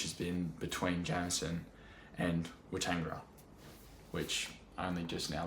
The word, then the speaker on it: Weetangera: on field, which has been between Jamison and Weetangera, which I only just now learned how to pronounce.